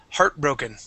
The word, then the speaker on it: heartbroken: uh first up is heartbroken heartbroken good yeah so the accent goes at the very beginning of the word okay you